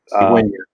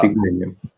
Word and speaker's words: cigüeña: So, as we see here, usually the combination of letters G-U-E or G-U-I is pronounced like a hard G. Guerra, war, guitarra, guitar. So if we want to actually make it into a gua sound, we have to put these umlauts over the U in a word like vergüenza, which means shame.